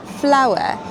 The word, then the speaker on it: flour: Bread, eggs, flour. That's right, it's pronounced the same as the flowers that grow outside.